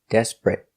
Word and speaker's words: desperate: Two syllables. The stress is on the first syllable. Desperate. Not three syllables.